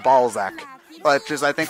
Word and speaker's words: Balzac: It's spelled B-A-L-Z-A-C. Z-A-C, yeah. So, is that your ball sack's nobody then? No. It's Balzac. Balzac.